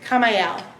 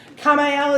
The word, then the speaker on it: Kamael: The archangel that is associated with Geburah is Kamael. Go to Trey. How do you spell that? Kamael is a K.